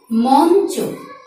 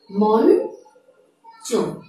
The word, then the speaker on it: মঞ্চ: 4টি বর্ণের কোনটি বসে, তবে ইওর উচ্চারণটি হয়ে যাবে নয়ের মতো। যেমন মঞ্চ, মঞ্চ, মঞ্চ।